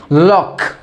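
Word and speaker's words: lock: तो यहाँ पर क्या, सी साइलेंट होता है, चुप हो जाता है, तो यहाँ पर इसे क्या पढ़ते हैं, लॉक, लॉक।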